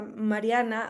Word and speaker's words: Marianx: traigo y no binarias, por eso la X en mi nombre es para mí importante, aunque se pronuncia Mariana, habito un cuerpo no binario.